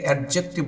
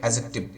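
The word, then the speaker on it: adjective: অ্যাডজেক্টিভ আমরা অনেকে এটাকে অ্যাডজেক্টিভ বলি। তো একটা জিনিস মাথায় রাখতে হবে যে ডি এর পরে জে, জি এগুলো যদি আসে তাহলে ডি এর উচ্চারণটা উজ্জ্ব হয়ে যায়, এটা হবে অ্যাজেক্টিভ।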